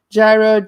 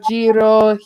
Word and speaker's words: gyro: differently like you get gyro jiro hiro like yeah they pronounce the g like an h depending on where you are well well around here